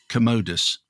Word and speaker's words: Commodus: fighting against the power hungry envious antagonist in Commodus emphasis on that pronunciation Maximus was driven by the death of